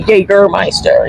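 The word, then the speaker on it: Jägermeister: get my stuff Jagermeister so we say gay girl Meister you just put an a into the ER yeah you guys are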